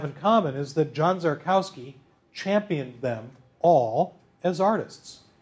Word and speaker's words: Szarkowski: so who is this john zarkowski guy properly pronounced jarkowski jarkowski he was first and foremost a photographer and